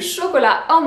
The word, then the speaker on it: chocolate: du tout est non alors comment est-ce qu'on prononce le chocolat en anglais tempête c'est vraiment toi ou let ok